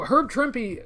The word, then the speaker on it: Herb Trimpe: Oh, Herb Trimpe. That is how his name is pronounced. And believe me, I said it wrong for a long time until I heard it spoken by people who actually knew him.